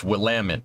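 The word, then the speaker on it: Willamette: it's in Barracks I'm gonna get I'm gonna pronounce the name right will Amit it took me forever to not pronounced that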